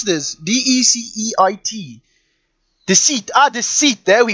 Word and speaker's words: Deceit: Why can't I pronounce this? D-E-C-E-I-T.